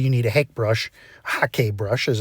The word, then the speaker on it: Hake: So specifically, you need a Hake brush, Hake brush as it's properly pronounced.